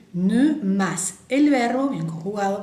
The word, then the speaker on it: ne: Acuérdense que la E francesa es E, bien redonda la boca, E, ne, más el verbo, bien conjugado por supuesto, más el jamais.